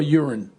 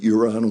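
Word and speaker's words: Joran: Uran or Urine? I think you called him Uran, but it's pronounced Uran.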